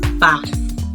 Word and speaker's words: bath: Thief cloth and bath remember the sound is mispronounced as T so it's not pronounced